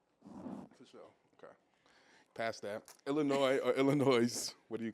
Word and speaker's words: Illinois: They're like, nigga, it's not Illinois, it's Illinois. I'm like, huh? It is Illinois. Like, nigga, the S is silent.